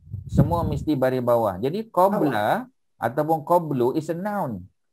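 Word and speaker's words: قبل: Qabla. Qabla. Biasanya dibaca qabla. Kadang-kadang qablu. Ya, kadang-kadang qablu. Tapi biasanya qabla. Ini ada dua cara baca, ya. Boleh tak baca qabli? Boleh kalau ada min depan dia.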